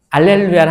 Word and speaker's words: 할렐루야: 할렐루야를 하는데 이번에는 알루야 하는데이 루짜가 포인트. 루 루 입술이 어때요? 루 뽀뽀 해야 돼. 뽀뽀 뽀뽀 해 봤어요? 네. 잘했어요. 뽀뽀할 때 입술. 자, 루이 발음을 만들어야 됩니다.